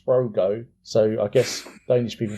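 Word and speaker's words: Sprogø: to that island called she pronounces it's sproy if i see if he's written down it says sprogo so i guess danish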